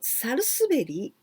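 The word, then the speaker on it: 百日紅: But this kanji, it's quite curious because we never pronounce like this, but here we write with 100, 100, the second one, hito, person, and the third one, beni, beni, beni is like a lipstick.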